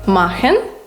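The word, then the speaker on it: machen: Ми з букви сполуки цех цех завжди разом читається як х наприклад махн це робити дабух книга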